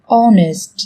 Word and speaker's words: honest: Trong tiếng Anh cũng có một số từ mà cách viết chúng ta thấy xuất hiện chữ cái h, nhưng khi phát âm thì chúng ta lại không cần phải phát âm âm này, người ta còn gọi là âm h câm.